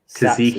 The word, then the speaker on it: tzatziki: How do you say? Is it Tzatziki or Tatsiki? Tzatziki.